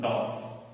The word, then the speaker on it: dwarf: W-A-R-F, dwarf R is silent. We can put DOF. R is silent. DOF.